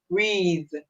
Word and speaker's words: breathe: So the E at the end is silent.